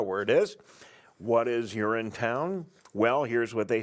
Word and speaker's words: Urinetown: I wanted to make sure I was pronouncing it correctly when I first saw it. But yeah, it is Urinetown.